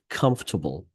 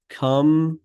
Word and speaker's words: comfortable: Her blue scrubs look comfortable. خلينا نتكلم عن الكلمة هذه comfortable. لو نطقتها comfortable, that's fine. But if you say comfortable, that's the way to say it.